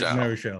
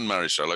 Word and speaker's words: Marichal: You're going to have to tell me if that's the right pronunciation. Marichal. Juan Marichal.